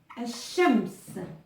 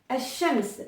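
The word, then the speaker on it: الشمس: Et soleil, en arabe, ça se dit Al-Shams. Al-Shams.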